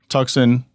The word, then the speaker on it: Tuxon: Tucson, spelled Tuxon, is on purpose, because when you try to say the word Tucson, that's exactly how it's phonetically, it looks like Tucson.